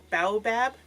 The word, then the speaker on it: baobab: And it has baobab. How do you pronounce that?